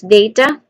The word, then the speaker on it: data: First syllable is day, as in D-A-Y, and there's a diphthong sound at the beginning. And then ta, ta. No, not ta, but like hypothesis. No, statistic. Data. Maybe data. Statistics.